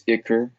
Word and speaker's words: Ishkur: What's interesting is Ishkur appears in the story, and if I remember correctly, some translations pronounce his name as Ikur, Ickkur.